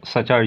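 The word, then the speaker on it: suture: इसे ITSZ, Indo Tsangpo सचर zone, Indo, यहाँ टी में टी साइलेंट है, इंडो सांगपो सचर जोन,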